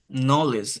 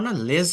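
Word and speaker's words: knowledge: শুরুতে তাহলে কে সাইলেন্ট থাকে এন এন দিয়ে উচ্চারণটা শুরু হয় যেমন নলেজ এখানে নলেজ দেওয়া না লেজ না কিন্তু এটা হচ্ছে নলিজ লিজ হয় নলিজ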